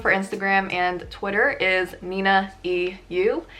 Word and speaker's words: ninaeyu: Well, I just pronounced it. My username for Instagram and Twitter is ninaeyu. It's not ninaeyu, it's not ninaeyu or whatever.